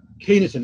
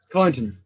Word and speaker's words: Kyneton: rainfall averages per month for Castle, Main and Keeneton. Is that how you say it? Keeneton? Kyneton? What do you say there? Right. Kyneton.